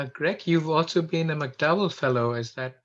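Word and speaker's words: MacDowell: And Greg, you've also been a McDowell Fellow, is that right? Am I pronouncing it correctly?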